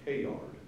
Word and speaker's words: Teilhard: at Arcosani that said, "Work hard, play hard, Teilhard." But if you didn't know how to pronounce the French, you wouldn't have any idea that you had a rhyme going there.